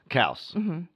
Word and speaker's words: Kaus: So, how do you pronounce on Facebook? You have, and then it's Klaus. Kaus.